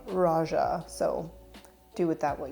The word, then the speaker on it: Roja: I believe Raja pronounces his own name Raja, so do with that what you will.